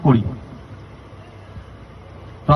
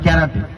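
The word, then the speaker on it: 空手: ক্যারাটে কথাটা Japanese কথা। এর রিয়েল প্রোনাউন্সিয়েশন হল করাতে। করা মানে এমটি আর তে মানে হাত। করাতে মানে খালি হাত। আমরা ইংলিশতে বলি কে আর এটি ক্যারাটে।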